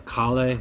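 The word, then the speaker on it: Kahle: Now, if we are back on the J hook topic, this is called a Kale. It's spelled K-A-H-L-E.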